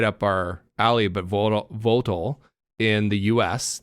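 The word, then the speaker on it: Vogtle: Did I say that right? Votel? I think so. Votel? Yeah, Votel. It's spelled Vogtely. Vogtely. Yeah, I think that it's was Votel. like, when I was from the U.S., like, I probably would have pronounced it the same way.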